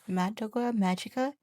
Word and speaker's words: Madoka Magica: Oh, it is Madoka Magica.